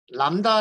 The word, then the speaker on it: lambda: 저희 팔선 14번 이자 월 네번째 파일이 이구요 람다 라고 하도록 하시지만 마음입니다 나이가 오타 아니구요 lambda 입니다 얘는 부분이에요 발음이 안되는 그래서 읽을 읽으실 때 난 다람